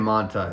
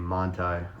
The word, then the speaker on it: Montai: Um so I'm Ryan Montai. That's how you say my name. Montai. Um, it's like German or Polish or something. It's the German pronunciation of a Polish last name, but my blood is German.